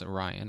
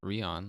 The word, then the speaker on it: Rion: And but we start off on the planet Sonata, and Ryan, who this time I have learned that it's Orion and not Rion, like I was mispronouncing when we did our Renegades podcast.